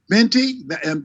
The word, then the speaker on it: Bente: Bente, am I pronouncing it right? Yeah, Bente, Hello, yeah, my name that's my Bente.